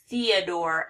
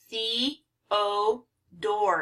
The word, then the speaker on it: Theodore: I really like this one because we have 2 long O's. We have the, you know, it looks like the word the, but it's a long E here. Theodore. And this O is long because of the E at the end, but Theodore.